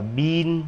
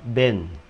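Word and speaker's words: been: Nhìn hai chữ y này tưởng là đọc là y dài, nhưng không phải, nó đọc y ngắn, nó không đọc là bin như trên này mà là ben.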